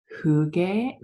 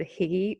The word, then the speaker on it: hygge: I know I've said higgy, but I don't think that's right.